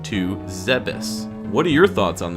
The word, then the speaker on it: Zebes: With this information, I can now begin to correct my pronunciation to Zebes.